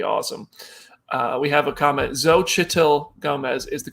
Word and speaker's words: Xochitl Gomez: Xochitl Gomez is the correct pronunciation, says Julia Delbell.